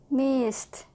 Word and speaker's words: missed: like T watch watch missed very good S at the end made by the S sound a only no voice e d sounds like T believe the yeah because